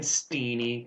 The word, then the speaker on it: Stene: technically pronounced Stene. It's Norwegian.